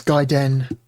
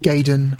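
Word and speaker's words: Gaiden: controller Port one anyway that's Darius gaen or gayen or however you want to pronounce the word I've heard people pronounce it both ways neat a neat interesting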